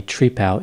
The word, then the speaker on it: Trepal: Apparently, Trepal is how he pronounced his last name. It seems a little unusual to some people, like he's friends with a tree, like a Trepal, but this is what I found out. This was the pronunciation.